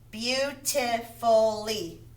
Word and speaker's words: beautifully: And if it's more than two syllables and ends with a Y, it's going to be long E. Beautifully. Beautifully. Beautiful. E. Oh, you guys, it's not been a good. Beautiful. Beautifully. Beautifully has 1, 2, 3, 4 syllables. And the Y is at the end. It makes an E sound.